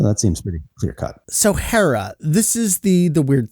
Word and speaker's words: Hera: we break this down so it's hera and that's an elongated uh ah sound at the end there uh and then ichizoku